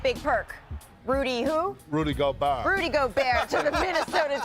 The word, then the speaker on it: Gobert: Rudy Gobert.